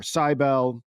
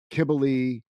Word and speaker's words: Cybele: I've heard people call her Cybele, Kibble, a variety of other ones. I even was in the YouTube comments of a pronunciation video the other night, and someone's like, "My name is Sibylle, and it's pronounced Cybele."